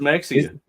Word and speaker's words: Mexia: That's not how you say that. Brett, how do you pronounce that? It's Mexia.